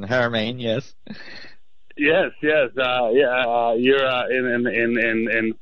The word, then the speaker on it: Haramein: Nassim Haramein. Mm-hmm. Very good. Yes. It's a hard pronunciation. Haramein, yes.